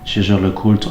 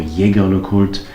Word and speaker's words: Jaeger-LeCoultre: There is an entire collection, Jaeger-LeCoultre or Jaeger-LeCoultre, if you don't pronounce it in a French way.